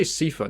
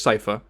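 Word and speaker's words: Sypha: Trevor and sifa sci-fi I always say sifa now it is cipher it's safer and and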